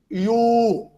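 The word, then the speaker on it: ewe: Two words spelled differently, but pronounced alike. So, the E-W-E is U or IU.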